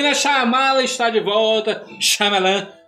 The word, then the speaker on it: Shyamalan: Shyamalan. M. Night Shyamalan. Ele tem várias pronúncias pro nome Não, dele.